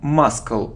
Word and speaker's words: muscle: without L walk walk it isn't muscal no it isn't muscle no it's muscle we don't pronounce c muscle it isn't half